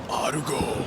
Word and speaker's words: Argo: So in English it's called Argo, but in Japanese it's Argo. And you have to say it like that.